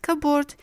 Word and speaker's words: cupboard: In raspberry and cupboard, you'll notice the bilabial sounds P, B are following each other. As there is too much maneuver at the level of the lips in producing the two sounds successively, the result is that P files behind from pronunciation and turns into a silent letter.